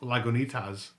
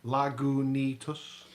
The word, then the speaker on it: Lagunitas: Last week I pronounced Lagunitas wrong, even though it's spelled phonetically on the bottle. And I mentioned last week it was spelled phonetically on the You bottle. did, yeah. But it's actually Lagunitas.